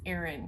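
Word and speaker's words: Aran: like that's not right that's not right it's aaron because aaron weight yarn so i'm pretty sure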